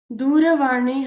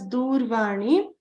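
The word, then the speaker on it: दूरवाणी: A lot of people have forgotten to pronounce the ra. They have pronounced it as Durvani. That would be if ra was having a halantam. So if ra had a halant at the bottom, that would be Durvani, right?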